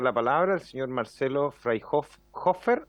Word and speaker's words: Freyhofer: Eh, Íbamos a entregar la palabra al señor Marcelo Freyhofer o. ¿Cómo si nos ayuda con el apellido para pronunciarlo correctamente?